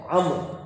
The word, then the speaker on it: Amr: Amr. Not Amru. It's Amr. That's how you pronounce it.